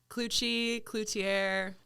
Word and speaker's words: Cloutier: My guest today, Elizabeth Cloutier. Happy to be here. Thanks for having me. And how did I do in the name? You killed it. There's a lot of different pronunciations, but Cloutier.